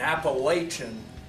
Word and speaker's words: Appalachian: of what he says all these people in Appalachian Kentucky okay that's how you pronounce it Nathan little you people need to